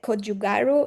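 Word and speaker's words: gochugaru: I mean, you put the kjugaru or how do you pronounce it?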